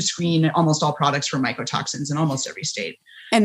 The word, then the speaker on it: mycotoxins: pretty misunderstood is mycotoxins a lot of people who aren't scientists get those two mixed up micro micro if you know you're not paying attention or you're not pronouncing it clearly it's very easy to mix them up but mycotoxins micro comes from you know fungus related uh the the word is fungus related um and it's molecules